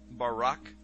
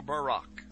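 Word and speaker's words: ברק: a flash of light in Hebrew is pronounced Barak or Barak now consider this amazing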